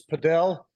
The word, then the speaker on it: padel: you know and actually we're kind of saying it wrong it's padel oh okay yeah that's where you pronounce it that's the that's the way they say it in Europe Fidel and it has Spanish